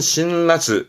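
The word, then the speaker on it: 辛辣: 그래서 신랄, 발음은 신라스, 신라스.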